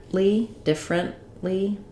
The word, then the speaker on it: differently: So like in differently, that one we tend to use more of an unreleased T. So you won't hear it, but we don't really do differently. We use a stop T there, so that's not a